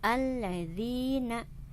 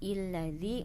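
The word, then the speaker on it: الذين: itu bertemu dengan enam jadi ini dibacanya alladziina bukan ilazi bukan ullevi tapi alladziina tapi ketika ada di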